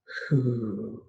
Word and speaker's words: hu: spleen sound is who who written as hu pronounced just like um the word who as in who's on first okay so breathe into